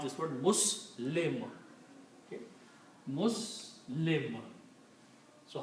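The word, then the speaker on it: مسلم: We pronounce this word Muslim.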